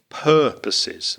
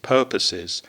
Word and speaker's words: purposes: thing we noticed was the pronunciation of purposes which is stressed on the first syllable so purposes purposes talking at cross purposes one other little thing